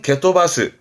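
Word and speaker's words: 蹴飛ばす: 그걸 좀 더 길게 본다면 발음은 게토바스.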